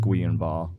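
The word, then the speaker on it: Guillain-Barré: the vaccine all right it looks like Jillian b-a-r-r-e but I think it's pronounced guian ball wow sounds like that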